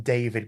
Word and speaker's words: D4VD: I think they just call him David, but it's spelled D4VD. Yes.